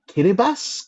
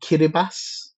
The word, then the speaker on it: Kiribati: I think it's called Kiribass, Kiribasu. Um Yeah. Uh k i r i b a t i, but the t is not pronounced, I believe.